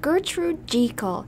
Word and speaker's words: Gertrude Jekyll: It's pronounced Gertrude Jekyll.